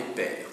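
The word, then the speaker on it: pairs: par les tribunaux par les jugements par les pères.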